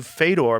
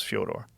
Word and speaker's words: Fedor: I've heard and when I was calling you Fedor, people are going, "Oh, he's saying that because Fedor Melonenko." I'm like, "Yeah, well that's kind of the accepted American pronunciation of Fodor, though." So, I I wanted to ask you if it was Fodor. Yeah.